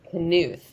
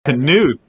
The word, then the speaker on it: Knuth: It's Knuth. It's German. Knuth.